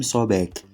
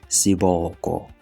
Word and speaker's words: Sobek: The name Sobek is actually a mispronunciation. Initially, this term is translated into SBK. When we add the vowels to this SBK, we get the word Siboko instead of Sobek. Because Sobek really doesn't mean anything, but when we say